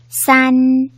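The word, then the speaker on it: 三: 하겠습니다 1 병 물 잘 보고 따라해 볼까요 싼 싼 4 싼 1부터 3까지 하나씩 세어 볼까요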